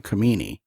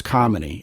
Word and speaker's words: Kamini: You know, we were talking earlier, and I pronounced your name Kamini, and you said, well, it's Kamini.